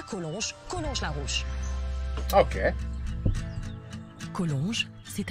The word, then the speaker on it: Collonges: Collonges. Oops, you pronounced the G. Collonges.